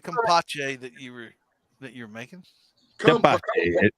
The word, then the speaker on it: tepache: Tepache? Tepache. It's T-E-P. Yes, tepache. It's pineapple syrup. With a K. If it starts with tepache. Tepache. All right. No, I always thought you were saying compache or something.